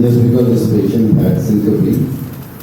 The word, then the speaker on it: syncope: One point, I mean, just because this patient had syncope, the correct pronunciation is syncope, systole, diastole. All three you got wrong.